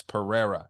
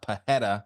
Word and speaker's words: Pereira: But if it's in the middle of their name, it's an R, like Alex Pereira. It's not Pajeda, like a lot of fucking frauds.